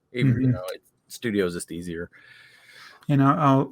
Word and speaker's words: Studio: and do studio bricklink studio stu stud io however you pronounce it you know it it's gotta be studio i know people call it stud i o but um right yeah